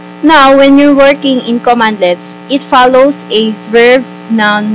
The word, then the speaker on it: cmdlets: it's a free installation commandlets cmdlets are pronounced as commandlets commandlets are specialized commands